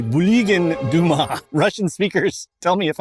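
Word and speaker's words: Bulygin Duma: state parliament known as what Google tells me is pronounced as the Buligin Duma. Russian speakers tell me if I'm wrong, but it is pronounced as the Buligin Duma.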